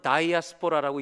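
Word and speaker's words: diaspora: 참고로 영어로 읽을 때는 우리 한국말로 디아스포라 그대로 읽지만 그리스 발음으로 영어는 다이아스포라라고 읽는다고 그렇게 알고 있습니다.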